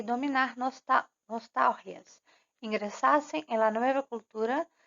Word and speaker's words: nostalgia: assim, cortar raízes, dominar nostalgias. Tem que prestar atenção aqui porque não é nostalgia. Nostalgia é a pronúncia do português. Em espanhol, nostalgias. A sílaba mais forte é o tal.